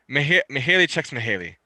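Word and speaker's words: Mihaly Csikszentmihalyi: is this really look that's a mouthful to pronounce yeah it's haley checks mahali uh his uh there he is he's obviously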